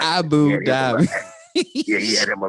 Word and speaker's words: Abu Dhabi: Hey man, you know, Coach Willie, we got to pronounce all the letters, okay? All of them. You don't let not one syllable go. Boy, it is Abu Dhabi and Troy Palu Malu.